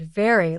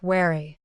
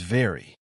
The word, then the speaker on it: very: One very common mistake is confusing the V sound and the W sound. That happens a lot. For example, some learners pronounce the word very like wary.